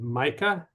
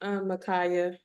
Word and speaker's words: Micah: excellent next I'm gonna is it Micah it's pronounced micaa micaa I'm sorry thank you